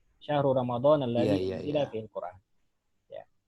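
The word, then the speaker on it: رمضان: Ini Ramadan, ini bacanya bisa dua ya. Tapi yang lebih, kalau kita ikut ke Al-Quran, lafaz Al-Quran, ini dia Ramadan termasuk ghair munsharif. Oh gitu, Ramadana. Kita baca apa? Syahru Ramadana, ya kan?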